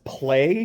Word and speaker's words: Ple: We see both Purus who, because I watched Unicorn dubbed, I will be referring to as Play because I think that's how, like, it's PLE. I think that was how they pronounced it.